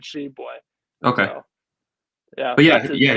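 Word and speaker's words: Tshiebwe: It's Sheboy. T silent. Is that okay? It's Sheboy. I thought it was Sheboy, but the commentators, when the game I was watching the other day, just said Sheboy.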